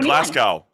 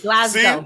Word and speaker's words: Glasgow: So I'm always saying Glasgow. What's the right one? It's with a Z, Glasgow.